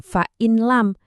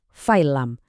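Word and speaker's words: فَإِن لَّمْ: Jadi bacanya bukan fa'in lam. Suara nunnya hilang sama sekali. Langsung masuk ke lam. Jadinya fa'il lam.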